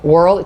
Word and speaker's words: Wuerl: he he reminded me it's world like squirrel that's how you pronounce it world chad brock in like